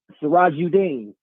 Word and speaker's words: Sirajuddin: Say your name one more time, sir. Sirajuddin. Sirajuddin? Did I say it right? Yeah. Okay. Sounds like you're saying Dean.